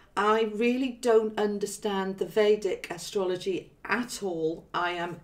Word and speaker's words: Vedic: Is it Vedic or Vedic? How's it called? I think that both pronunciations are fine. But what I know the most about Vedic astrology, the way I say it is Vedic. Some people do say it the other way.